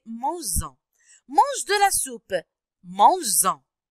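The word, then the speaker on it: manges-en: Parce que on peut pas dire mange-en, d'accord? On doit ajouter s pour la prononcer mange-en.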